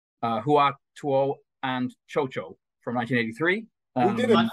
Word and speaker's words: Cao Cao: And Chocho is spelled CAO, CAO, if that helps. That's how they say it in the film as well. Yeah. I just replaced How Tao with Kusohisia. And yes. And I noticed in the Japanese version, it's pronounced so-so, just to add further confusion. So yes, is that good enough for you, Clive?